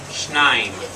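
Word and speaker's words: שניים: No, there's a shva there. It all gets pronounced together. Shnaim.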